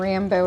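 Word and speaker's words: Rambeau: and Rambo is spelled R-A-M-B-E-A-U. Rambo. Kind of cute.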